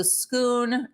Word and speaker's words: Scone: the seat of the schoon that looks like scone but they pronounce it schoon it's Scottish whole story behind that